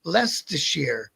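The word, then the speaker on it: Leicester: All I know is that that the the name on the back of their jacket said Le Lester and it's spelled all up, but you pronounce it lest.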